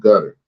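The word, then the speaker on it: Guttr: of that group dude it's called gutter oh yeah but it's spelled g-u-t-t-r no e inm just g-u-t-tr so yeah I'm really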